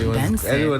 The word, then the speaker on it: BNXN: Buju Benson. We're going with Benson.